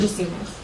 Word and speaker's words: Jasiunas: Just soon as the I is silent. Spelled out for us. Oh. JJASIUNAS. Sweet. Jay Jasunas.